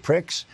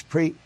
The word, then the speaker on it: Prix: It looks like you should pronounce it pricks, but no, it's pre. Not a lot of people know that. It's pre, not pricks.